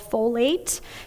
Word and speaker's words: folate: The spinach, actually most vegetables are going to be abundant in something called folate. It kind of sounds like the word foliage, greens.